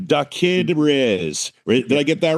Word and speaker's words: DaKidRiz: And And it's I I don't know how to pronounce it right. Did Riz.